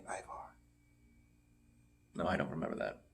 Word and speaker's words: Ivar: They must love Eric and Ivor. Is that how you pronounce it? Ivar.